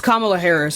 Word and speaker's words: Kamala Harris: It's Kamala Harris.